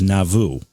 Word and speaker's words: Nauvoo: And, you helped me out, too, because I was going to have to ask you how to pronounce the town, and you said it's Nauvoo.